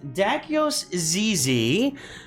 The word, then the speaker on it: Dakyos Zyzy: too good I am here today talking with dakios Zizi uh and tell me something am I I've